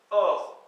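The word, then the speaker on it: oc'h: Mais ça se prononce et. Nous sommes, omp, O-M-P. Vous êtes, or, O-C apostrophe H.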